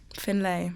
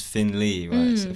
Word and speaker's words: Finlay: it's cute yeah cool pronounce my name my name's Finlay Finlay but people like the normal is Finley people think I'm trying to be difficult it's Scottish it's that I think yeah